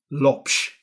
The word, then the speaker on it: Lopes: So I'm really delighted to welcome Pedro Couto Lopes.